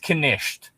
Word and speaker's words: knight: For instance, in Old English, knight would have been pronounced knight as in like this the royal soldier or whatever would have been pronounced knisht.